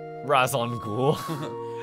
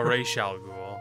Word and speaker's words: Ra's al Ghul: Razon Ghoul. No, Ra's al Ghul.